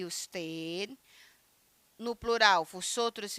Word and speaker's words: vosotros: Nosotros, vosotros. Por que vosotros? Porque o V ele tem um som de B, tá?